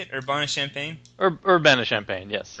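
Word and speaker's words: Urbana-Champaign: champ CH is that how you say it Urbana champagne Urbana champagne yes Urbana champagne okay with a BS in Psychology and you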